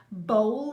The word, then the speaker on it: bowl: the mood for me bowl now look at that it's got a w in and there now but it still rhymes doesn't look like it's